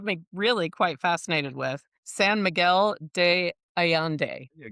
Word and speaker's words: San Miguel de Allende: San Miguel de Ayande. Miguel. Perfect pronunciation to notice.